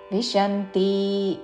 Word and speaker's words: విశంతి: వ ఉచ్చారణ మర్త్యలోకం విశంతి తాళవేష మీద ఆఘాత చివరిలో ఉంతి హ్రస్వము విశంతి అని దీర్ఘము పలకకూడదు క్షీణే పుణ్యే మర్త్యలోకం విశంతి